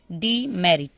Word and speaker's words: demerit: DEMERIT, डी, DE को डी पढ़ेंगे, MERIT को मेरिट, डी मेरिट, ठीक है, डी मेरिट, डी मेरिट।